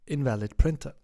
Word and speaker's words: in2al5d p3in4er: In this video we talk about this malware loader, which is pronounced invalid printer.